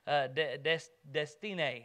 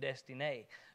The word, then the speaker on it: Destiné: Justin and I took turns sharing the gospel with Patrick doing the Destiné, is how his name's pronounced, he told me. He says it's like destiny, but Destiné.